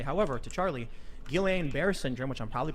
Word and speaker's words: Guillain-Barré: I will also say, however, to Charlie, Guillain-Barré syndrome, which I'm probably pronouncing Guillain-Barré. Oh, fucking finally found it. wrong. It's a I side effect. of- always mispronounce it. Yeah, me too. Guillain-Barré. Guillain-Barré.